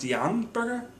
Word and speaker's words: Bjorn Bjorgen: It is pronounced Bjorn Bjorgen.